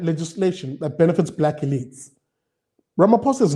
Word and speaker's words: Ramaphosa: And I see Vernon saying, oh, Ishmael is talking about I nearly pronounced his name in a terrible way. Ramaphosa.